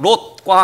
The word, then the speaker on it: 롯: 룻, 롯, 룻 발음이 다르죠. 롯, 오, 룻, 우 방향이 정반대예요.